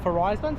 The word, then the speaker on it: Farizon: this is a horizon forizon so you pronounce it horizon Verizon Verizon and it's